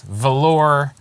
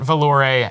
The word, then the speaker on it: Valor: Valor Accords, not Valore, as may have been mispronounced by anonymous or unnamed members of the commentary staff here at Alliance Tournament 14.